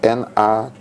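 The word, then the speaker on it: נָצַר: En fait, ça s'écrit Natsar, mais ça se prononce natsar.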